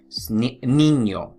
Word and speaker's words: niño: Niño, all right? Niño. So if you see that squiggly line, that tilde above the letter N, make sure you pronounce it ñ, all right?